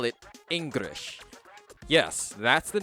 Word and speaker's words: Engrish: English spelt with an R instead of an L. Why? Because Japanese doesn't have an L sound, so Japanese people often pronounce English words that have the letter L as if those words had an R instead.